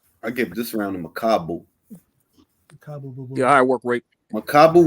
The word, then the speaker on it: Makabu: I give this round to Makabu. Yeah, high work rate. Makabu was piecing him up and he was busier. Is it pronounced Makabu or Makabu? It's really Makabu, not Makabu. It's Makabu.